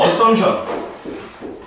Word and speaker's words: assumption: 영어로는 assumption. 요 P는 묵음. 결론은 result가 아니고 여기서는 conclusion이에요.